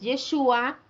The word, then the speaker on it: Yeshua: en la vocal a y el nombre del mesías para muchos y voy a hacer la aclaración es yeshua con acento en la u que significa él salvará